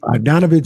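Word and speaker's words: Bogdanović: a t in sheski there's no J oh man not even a silent one not even a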